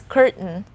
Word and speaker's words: curtain: but the thing is we have the hard n in the word curt so it's curtain we have to ignore the letter t in this word certain certain are you